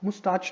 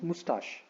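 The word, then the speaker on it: moustache: ठीक है, आप इसका भी ध्यान देना कि इस वर्ड को आप मुस्टाच नहीं बोलना। ठीक है, मुस्टाच गलत प्रोनाउंसिएशन होता है। ये वर्ड जो मैं यहाँ पे दिखा रहा हूँ आपको, दिस इज मुस्टाश। ठीक है, सो दिस इज एक्चुअली मुस्टाश। ठीक है, तो आप इसको मुस्टाश बोलना।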